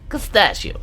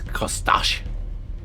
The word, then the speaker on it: Kostash: Pistachio. No, it's Kostash. I'm pretty sure Kostachi. it's pronounced Carl, but Yeah.